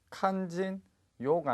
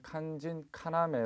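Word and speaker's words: 肝心要: 중요한 부분을 나타낼 때 뒷부분 칸 진 요가 아니라 칸 진 카나메 라고 발음을 하셔야 됩니다 주의를 하셔야 되죠 칸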